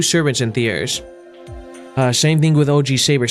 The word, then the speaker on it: Thiers: We'll soon arrive in Thiers. I believe that's how you pronounce it, not theirs.